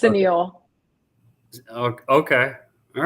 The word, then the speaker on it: SANIL: Uh, I'll spell it out. Now, I think how many people say no? A lot. It's Okay. Sunil.